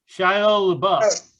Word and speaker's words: Shia LaBeouf: Shia LaBeouf. Oh, I love him. Yeah, he's so great. Isn't that how you pronounce his name?